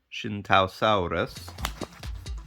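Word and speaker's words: Tsintaosaurus: recently I believe in China um this is pronounced Shin so the TS it shift sound almost shin Tau Rus Shinto saurus and the hunger the Korean this is like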